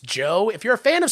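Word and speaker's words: Djo: heard of the band DJ o pronounced Joe if you're a fan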